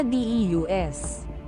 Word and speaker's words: Deus: na bansa ng Espanya ang salitang Diyos ay nakasulat bilang Dios na dius ngunit ang pagbigkas ay pareho narito ang pagsulat ng